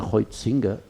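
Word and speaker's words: Huizinga: yo ayer leía a a hinga que se pronuncia Ho singa Este era el de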